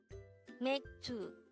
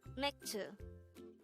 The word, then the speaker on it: 맥주: MAEKJU, which means beer in Korean.